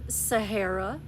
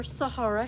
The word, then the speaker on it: Sahara: I also have Sahara, or Sahara, however you prefer to pronounce it.